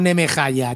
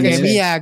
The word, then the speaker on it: Nehemiah: Oye, aquí pone Ezra and Nehemiah, no Nemehaya. Te estás inventando las cosas. Bueno, Nehemiah, coño.